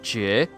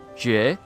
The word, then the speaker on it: Jue: In Chinese, it's pronounced Jie. Jie. So it's not like two syllables. It's just like Jie.